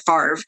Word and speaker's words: FAVRE: tests um of course i pronounce it like the football player uh brett favre but it's it's the f-a-v-r-e